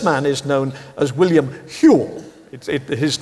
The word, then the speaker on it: Whewell: And this man is known as William Whewell. His name is an old Lancashire name. It's not pronounced Whewell, it's pronounced Whewell, like jewel.